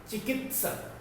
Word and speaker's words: चिकित्सक: चिकित्सक। और जो त है ये आधा, इसीलिए इसको उच्चारण कम देर के लिए किया जाता है। चिकित्सक, चिकित्सक, चिकित्सक।